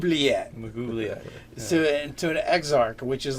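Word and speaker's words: Maglubiyet: Someone want to pronounce the name so I don't butcher it? Mugubliet. Yeah. Mugubliet.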